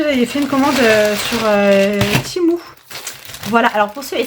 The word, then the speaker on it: Temu: ils nous disent bien que TMU, ça se prononce Timou.